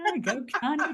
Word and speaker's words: Gokani: Gokani, Gokani.